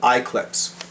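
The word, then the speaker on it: i-clips: of bookmarks is called iclips as an eclipse but it's spelled lowercase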